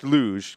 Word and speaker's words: LUJ: This week, we learn about the LUJ, pronounced LUJ, because that's what it says in my show notes.